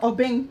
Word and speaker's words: Obeng: A user from Ghana has said that the name Obeng is No, Obeng.